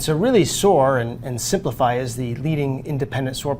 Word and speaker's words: Siemplify: the general manager of simplify but it's spelled s i e m dot com and it's dennis shaya